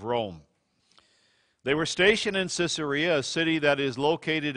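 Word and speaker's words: Caesarea: even of the Caesars some people pronounce the name even caesaria because it has Caesar right embedded in the name these soldiers maintained the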